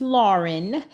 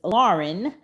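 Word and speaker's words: Laryn: my child's name even though her name is Lauren it is spelled different because I got the spelling from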